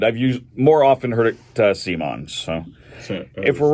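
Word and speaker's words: CMON: Is it Simon or come on? I've heard it pronounced both ways. I've always heard it, not always, but I've more often heard it Simon.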